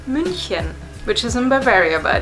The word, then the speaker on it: München: is actually called C the next one which you call Munich we call munin which is in Bavaria